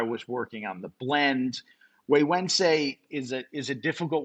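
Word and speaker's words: Güegüense: Waywednesday is a is a difficult one to pronounce. It is not a Spanish word. Yeah, it's Yeah, the gu is pronounced actually as a like a wii wense.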